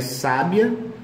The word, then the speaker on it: sábia: nós temos a menina que é sábia sábia é paroxítona terminada em ditongo crescente e tem o sabiá